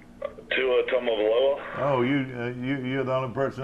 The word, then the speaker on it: Tua Tagovailoa: 28-game starter Jalen Hurts will duel with sophomore, how do you pronounce this guy's name? Tua Tagovailoa.